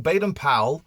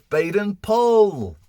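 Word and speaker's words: Baden-Powell: new on founders date we've been calling baden powell wrong it's baden paul so before we wrap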